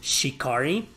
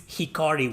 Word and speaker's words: Hikari: said that mithra's name was shikari when when in reality it's hikari without the s at the beginning but rex i'm pretty